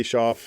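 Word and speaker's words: Shauf: So Andy Sha, if you don't know Andy Schoff, he's uh S H Auf very uh great cool artist from Saskatchewan.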